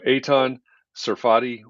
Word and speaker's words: Eitan Tsarfati: efficient and flexible design and building process so eitan serfati welcome to context and clarity live hi jeff